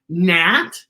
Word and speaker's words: gnat: oh and you see the giant white mat that's g-n-a-t nat and you see gnocchi